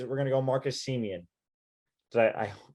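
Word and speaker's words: Semien: going to go marcus siemian did i i you got to pronounce that one slowly make sure you don't get that one right see me and marcus seaman seaman yeah so i i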